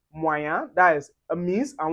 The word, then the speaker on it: moyen: And then when you see IEN or YEN or E accent aigu, that's the acute accent with the EN, we pronounce it as un.